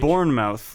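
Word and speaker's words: Bournemouth: is it spelled b-u-r-n-m-o oh it's it's it's born mouth like like jason mao like jason bourne you know the classic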